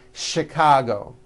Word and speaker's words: Chicago: are a couple of words that are spelled with ch and are also pronounced with the SH sound words like chef and the city of Chicago okay having said that